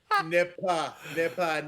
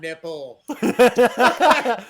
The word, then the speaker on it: Nippa: I'm like, Nippa, not nipple. I know he's just talking.